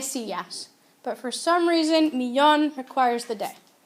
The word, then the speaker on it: millón: Also notice that millón needs an accent because the stress is on the last syllable, but millones does not need an accent because the stress is where it's supposed to be on the second to last syllable.